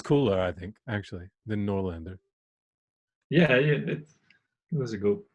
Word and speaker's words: Noorlander: Because, I just went straight to English and went Noorlander. I liked it. I apologize. It sounds cooler, I think, actually, than Noorlander.